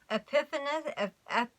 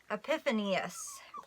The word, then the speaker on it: Epiphanius: fourth Century circus father epiphany of f or wait sorry I'm mispronouncing epiphanius wrote about the Nazarene